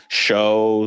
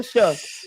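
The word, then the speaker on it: Shough: so uh yeah his last name is sh h o u g h yeah so it's show shu or shook yeah no it's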